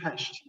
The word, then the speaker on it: Pest: so this is budapest notice you know it's buddha past here's buddha here's pesh it's two cities that became one and they decided that